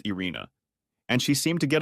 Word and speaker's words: Irene: Her name was Irene, pronounced Irina, and she seemed to get along with everyone in the office and everyone who came into the office except me.